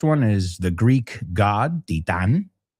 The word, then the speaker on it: titán: You say titán. Bueno, piensa Titanic. Bueno, ¿cómo se dice? Porque no se dice Titanic en inglés.